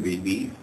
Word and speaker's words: Beebe: My name is Beebe. It's spelled B-E-E-B-E.